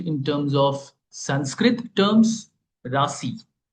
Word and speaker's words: Rashi: I'll call it Rashi. R A S I okay to be more accurate in terms of Sanskrit terms Rashi okay can be pronounced at rashi all right which are